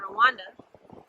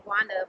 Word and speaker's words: Rwanda: We were originally in Rwanda, or Gwanda is how you say it. We were originally in Gwanda, but we moved from Gwanda to Dar es Salaam.